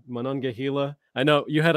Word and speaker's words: Monongahela: the, oh man, this is a tough one, Monongahela. Sorry for all those who are in Pennsylvania and West Virginia. I don't know how to pronounce that really well. Monongahela. Monongahela.